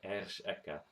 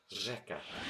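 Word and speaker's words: řeka: The actual letter itself is pronounced ersh, but when you see it in a word, it's It is not r. pronounced differently. You don't see here ersh eka. This means river, by the way. Instead, it's pronounced rzeka.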